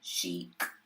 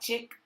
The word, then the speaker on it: chic: I have an interior decorating company, Shin Chic. That's CHIC. It sounds like it's spelled like chick, but it's really chic.